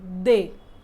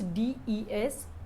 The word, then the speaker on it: des: So plural is same, they, both for masculine and feminine. We are using the same plural, they. So in French, we are not pronouncing the last letter, they. Actually, the spelling is D-E-S, but the pronunciation is